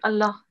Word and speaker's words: الله: we had last week, we have to pronounce this one with a thick sound. If it is preceded by a fatha, especially in the word Allah. Oh, yeah.